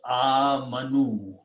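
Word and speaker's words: آمنوا: And when you put a vav, it becomes plural. Okay. And you pronounce amanu.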